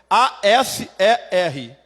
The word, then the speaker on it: Aser: Aser, é com E. A-S-E-R. É simples mesmo, não tem H, não tem nada. É Aser.